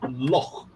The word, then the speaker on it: loch: James Boy says, Marcus, can you pronounce CH as in loch?